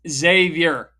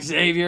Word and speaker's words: Xavier: It's Xavier. It's not Xavier. It's not X gonna give it to you. It's Xavier.